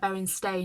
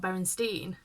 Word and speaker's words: Berenstain: So it's like Berenstain, not Berenstein.